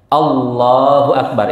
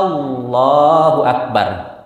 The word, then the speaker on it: Allahu Akbar: mengatakan Takbiratul intiqal ya Allahu Akbar itu cocok ada orang kadang membacanya anyya Allahu akbar nah Apa artinya itu ketika dia memanjangkan alifnya Allahu akbar Apa artinya Apakah Allah maha besar nauzubillah dia mempertanyakan kemahabesarannya